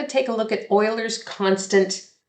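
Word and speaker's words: Euler's: take a look at Oilers constant e and yes Oilers it's pronounced like oil so the number e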